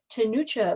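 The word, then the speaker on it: Ctenucha: And this is a tenucha moth, a Virginia tenucha moth. And I just learned how to pronounce that because it's CT.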